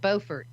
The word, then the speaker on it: Beaufort: there's a lot of uh paranormal activity in beaufort south carolina yeah so the full moon that just brings it out more sharply i gotta look it up now i'm b-e-a-u most places pronounce it beaufort okay but and if you're there it's called